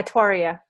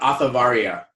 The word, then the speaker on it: Atwaria: Is that how you say it? Yeah, Atwaria. Atwaria. Atwaria, yeah. Atwaria. So it's not Athavaria. No. Dona Atwaria. Okay, so I got it. And can I just do that? But it is spelt that way.